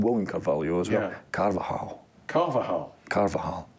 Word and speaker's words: Carvajal: there's a guy called woman Cavell yours yeah Carvajal carvajal Carvahall it's not kind of a hollow you it's anybody pronouncing it right on the local scene listen Scott speak the Screamers English so it's carbajal karva well I'm gonna have to practice this